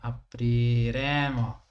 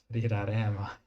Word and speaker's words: apriremo: Yeah, I added an extra syllable for some reason. Why did I put an extra syllable? Aprire, apriremo, apriraremo. It's a bit random mistake. Parlaremo. Aprire, apriremo. Apriraremo. Yeah, just invented a syllable out of nowhere.